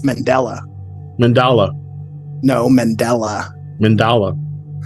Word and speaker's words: Mandela: go okay you said it wrong you said mandala it's Mandela mandala no Mandela mandala it's named after the